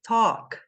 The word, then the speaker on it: talk: vou revelar aqui hein esta palavra é pronunciada Talk Talk que que acontece o a e o l juntos vão ter o som de o Talk e a gente sem